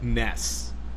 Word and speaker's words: NES: Japan the Nintendo and the NES actually is supposed to be pronounced Ness because we don't know why